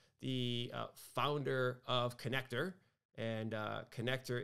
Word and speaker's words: Conneqtor: And so we've invited Derek Notman on, the founder of Connector, and Connector is spelled CONNEQTOR.